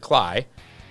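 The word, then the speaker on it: Klay: Steppen, was pronouncing it Clay. It was like... Uninformed. That's all right. I mean, I mispronounce names all the time, so I couldn't really say anything. And it looks like Clay, but Jared Cly will be with it.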